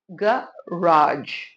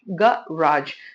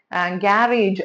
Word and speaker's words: garage: And American ஆக்சென்ட்ல இதை வந்து garage, garage. ஸோ இதை வந்து நம்ம யூஸ்வலா வந்துட்டு கேரேஜ் அப்படின்னு நிறைய பேர் சொல்லி கேட்டிருக்கேன். அப்படி நம்ம ப்ரொனவுன்ஸ் பண்றோம்னா அது தப்பு.